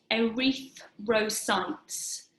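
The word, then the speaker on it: erythrocytes: through silence where I'm going to spell that e ry th r o c y te s arethe ro sites these are known in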